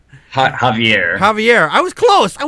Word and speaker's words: Javier: I think I pronounced his name right. Javier. Javier. I was close. I was so close. He's a It's Javier. Javier.